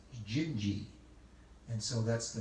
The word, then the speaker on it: Dindi: 1960 by jobim and it's called dindi d-i-n-d-i but in portuguese they pronounce that as jinji and so that's the